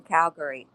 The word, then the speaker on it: Calgary: a rodeo cowboy in Calgary? David noticed that Carpathia had pronounced the city with emphasis on the second syllable, just like the locals.